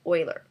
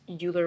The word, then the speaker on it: Euler: So there are 2 types of rotation as well, Quaternion and Euler. It looks like it's Euler, but I've been told it's pronounced Euler.